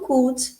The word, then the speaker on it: could: E o could, poderia. Should, could. Esse uzinho aqui não é pronunciado.